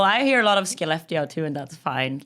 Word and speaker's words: Skellefteå: Tell us about your hometown, starting with how to pronounce it. I'm not even going to attempt to completely butcher this one. We say Skellefteå. Skellefteå.